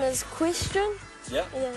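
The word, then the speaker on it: Kwestian: Me cuz actually my real name is Question. Yeah. Yeah. It's spelled K W E S T I A N.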